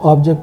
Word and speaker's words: object: Okay, and we're talking about words that have 2 syllables in it. So object, you've seen, stretch on the first syllable, it's a noun.